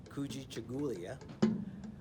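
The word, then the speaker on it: Kujichagulia: Tomorrow, we're going to work on my favorite principle, which is Kuji Chagulia.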